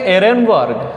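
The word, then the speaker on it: Ehrenberg: नाम है के लिए यहां पर साइलेंट है आप इसे पढेंगे इन वर क्या नाम पढेंगे इन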